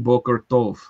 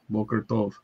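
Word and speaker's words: בוקר טוב: Boker tov. Boker tov.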